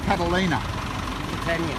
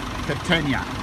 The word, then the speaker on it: Catania: How do you say it? Catalina? Catania.